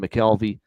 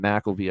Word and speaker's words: McElvey: Nick Olvento, Justin McKelvey, Justin McElvey, I should say, get the pronunciation right.